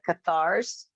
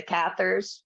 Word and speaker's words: Cathars: is a connection with the cathars right or the cathers right i've heard it pronounced both ways and you know not